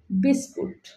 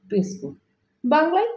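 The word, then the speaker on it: biscuit: Finally বিস্কুট। বিস্কুট অর্থ বিস্কুট। বাংলায় বিস্কুট হবে।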